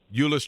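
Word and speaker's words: Euless: say the name of your town is it uless UL Trinity ulis Trinity okay so between Ulus Trinity High School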